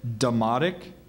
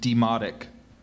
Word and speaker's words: demotic: form of the language are there any other pronunciations I have demoic and demoic demoic d e m